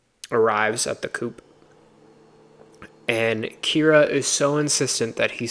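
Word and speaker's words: Ciara: Kira. It's spelled Sierra, but they pronounce it Kira.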